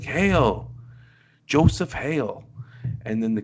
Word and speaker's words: Haille: To any normal person, they might call that Hale, but it's Hale, Hale.